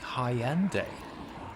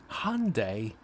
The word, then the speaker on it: Hyundai: As mentioned, Brits usually say Hyundai, whereas Hyundai Super Bowl has pushed Hyundai, rhyming with Sunday, to set the record straight.